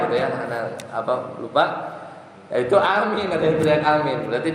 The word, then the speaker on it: amin: Cara bacanya dibaca dengan a-nya panjang, a panjang. Kemudian amin itu tadi ya. Atau boleh juga di lafaz yang lain a-nya pendek, amin. Itu juga boleh. Jadi ada 2.